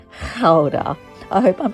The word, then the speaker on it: Gouda: We headed over to the cheese farm where they walked us through how their famous Gouda cheese is made. I learned it's not gouda, it's actually ka.